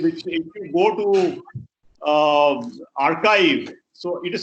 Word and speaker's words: arXiv: And he called it DNet 5, which if you go to archive, so it is spelled as ARXIV. So X is the Greek alphabet, which is chai. So it actually becomes archive.